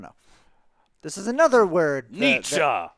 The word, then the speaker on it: Nietzsche: Nietzsche, like Friedrich Nietzsche, my favorite philosopher.